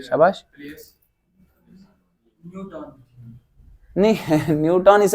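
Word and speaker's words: Newton: Means position change होगी, position, न्यूटन नहीं है, इट इज न्यूटन, ठीक है, न्यूटन। आप न्यूटन भी पढ़ सकते हैं, बट प्रोनाउंसिएशन इसकी है न्यूटन।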